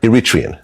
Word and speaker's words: Eritrean: So you're Iritrian. Mhm. Wow. You pronounced it right.